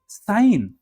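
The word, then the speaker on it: sign: है ऐसा ही देखिए आई जी एन कहीं लगा हो उसमें जी साइलेंट हो जाता है कैसे साइन डिज़ाइन बिनाइन जी लगा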